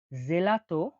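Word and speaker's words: gelato: জি বা গি হিসেবে জি বা গি হিসেবে উচ্চারণ হয়ে থাকে জি এর উদাহরণটা দেখুন জেলাতো জেলাতো বা গাত জেলাতো বা গাত তাহলে জেলাতো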